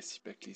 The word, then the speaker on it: Cipactli: Sipakli, si j'ai bien prononcé, c'est bien ça? Ok, Sipakli, c'est bien ça.